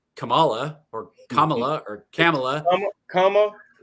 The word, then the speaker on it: Kamala: us can really figure out how to say Kamala or Kamala or Kamala. Kamala. Kamala. Kamala. Kamala. Well, is it Kamala?